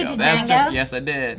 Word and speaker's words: Django: I just watched the Django Unchained for the first time like 2 days say ago. Django? Yes, I did. The D is silent and present.